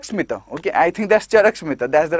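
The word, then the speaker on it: Charaka Samhita: Okay, I think that's Charak Smita, that's the right pronunciation.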